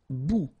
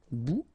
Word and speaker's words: bout: Un bout, remember, final T not pronounced, un bout.